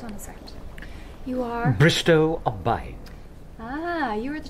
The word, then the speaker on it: Bristow: anything today but Mr Bristol Bristo oh oh oh Bristo rhymes with no we don't want anything